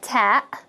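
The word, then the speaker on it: تاء: alphabet and it is pronounced like the frontal t sound in english like ta as in teeth so this is the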